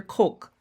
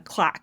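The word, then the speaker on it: van der Kolk: or Coke Van Der Coke I've always been saying a clock it's not clock it's k-o-l-k Coke so forgive me if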